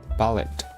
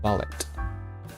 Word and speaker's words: ballet: movements were so smooth ballet do I pronounce t see ballet oh oh I just want to know prounce ballet ballet ballet ballet so we don't we don't pronounce t ballet ballet ballet